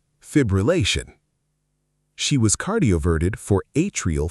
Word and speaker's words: fibrillation: Word 3, fibrillation. This one trips people up because it has 5 syllables and 2 of them feel equally important. The full correct version, fibrillation. Fibrillation. Fibrillation.